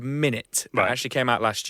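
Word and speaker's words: Minit: a brand new game it's a game called minute that actually came out last year it's spelled m i n i t so minutes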